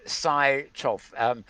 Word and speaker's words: Sychov: This is Psychoff. I think that's how you pronounce it. Not Psycho. No, Sychov. ARTUR and then SYCHOV.